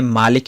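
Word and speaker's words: مالك: ہے، لیکن اس کو ایک لہجے میں پڑھتے ہیں مالک یوم الدین اور دوسرے لہجے میں پڑھتے ہیں ملک یوم الدین۔ اب ایک صحابی نے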